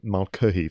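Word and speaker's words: Mulcahy: and but also you know the director russell malcolm that's how you pronounce his name this was his second feature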